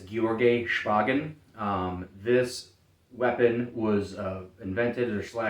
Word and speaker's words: Georgy Shpagin: But all that being said, so the inventor's name, and I might butcher this because I don't speak Russian. I've heard it pronounced as Georgy Shpagin.